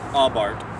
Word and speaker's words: Abarth: about my 2013 fiat aubart and it is pronounced ob art uh apparently the italians could pronounce that's sound so uh it's abart um anyway we talked a little about pros